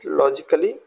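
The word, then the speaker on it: logically: Next word is that is लॉजिकली। यहाँ भी ए को हमें प्रोनाउंसिएशन में नहीं शामिल करना है, इसको भी छोड़ देना है।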